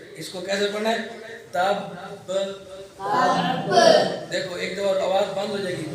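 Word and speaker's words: تبّ: اس کو تب اس طرح نہیں پڑھنا، یہ تو ساکن کا تلفظ ہے. صحیح ہے. اس کو کیسے پڑھنا ہے؟ تب.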